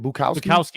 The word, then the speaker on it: Bukowski: Bukowski.